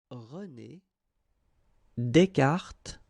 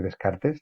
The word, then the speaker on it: René Descartes: en español y que he buscado en internet cómo se dice para que lo pronunciéis bien en francés. ¿Vale? Yo lo voy a poner. René Descartes. Vale. Pues René Descartes, eh, puedes decir Descartes también, es un filósofo que